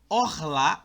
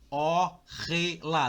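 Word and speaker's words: אָכְלָה: Orrelá. Não, é orlá.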